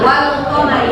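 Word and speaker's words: والقمر: Apa bacanya ini? Wal qamari ada bunyi lamnya.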